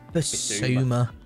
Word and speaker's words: Bissouma: Bissau. No, it's Bissouma.